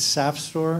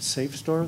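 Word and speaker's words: SAFSTOR: It's sapstore. It rhymes with sap, not safe store. There's no e there.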